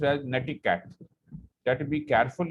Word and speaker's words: netiquette: Okay, Please see that the word is pronounced as netiquette. Combination of net, from internet, and etiquette.